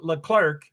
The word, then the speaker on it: Leclerc: And that's how you say Leclerc in French. You say Leclerc. That's how you say it.